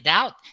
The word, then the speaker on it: doubt: preferable comfortable and vegetable bee must not be heard in doubt that and um both